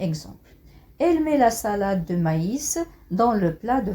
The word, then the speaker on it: maïs: le crémant le crémant donc ici le tréma ans l'utilisent pour pour indiquer qu'il faut lire qu'il faut prononcer la lettre e i séparément aussi la la voyez qui la pressait écoutez je vais prend on sait la lettre y envoyait séparément et aussi la voyelle qui a un séparément maïs maïs faïence faïence on va détailler tout